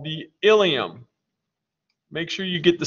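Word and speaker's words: ileum: intestine is called the ilium make sure you get the spelling of this correct there's another structure that's pronounced the same way that's spelled i-l-i-u-m and that's part of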